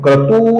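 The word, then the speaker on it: क्रतुः: तो कृतुहु का जो तू है ये ह्रस्व है तू है ये तू नहीं है तो कृतु नहीं है कृतु है और इसके आगे विसर्ग है कृतुहु फिर है सत्रम सतरम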